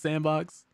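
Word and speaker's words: s&box: But 20 years after Gary's Mod pretty much changed everything, Face Punch Studios has revealed that the Sandbox successor, yeah, Sandbox, pronounced Sandbox, will finally launch on Steam April 28th.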